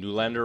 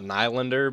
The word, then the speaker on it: Nylander: comments you guys keep telling me I'm saying newlander wrong it's not like if you if you